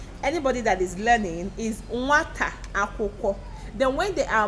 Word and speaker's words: nwata: How many syllables do we have in nwata? Can we clap it out? Nwata. Ọzọ, nwata. Ụda ole ka ị nụrụ na nwata? Ụda abụọ. Ụda ole. How many syllables?